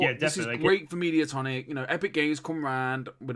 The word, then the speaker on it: Mediatonic: Metatonic? Is that how you pronounce that name? Mediatonic.